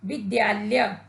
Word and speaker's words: विद्यालय: बच्चों, इस शब्द का उच्चारण करते समय कुछ बच्चे या कुछ लोग द के स्थान पर ध का प्रयोग करते हैं, जो कि गलत होता है। इसका शुद्ध उच्चारण द का प्रयोग करने पर किया जाता है और शुद्ध शब्द बनता है विद्यालय।